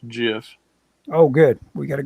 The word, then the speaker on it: GIF: you're right it's pronounced jiff okay the inventor says it's jiff oh good we got